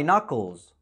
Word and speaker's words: knuckles: I crack my knuckles. Knuckles. بس كده. وبمناسبة النطق، لو محتاج قاموس كويس ونطقه مضمون 100%